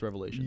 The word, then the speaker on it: Revelation: him you be like no it's Revelations yeah you need you need to you need to not waste your breath but you need to say my name with four syllables bro yeah oh Curtis